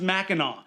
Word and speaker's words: Mackinac: that I'm not it's they're both pronounced Mackinac so win it whether it's ends in an AW or an AC still Mackinac I didn't realize that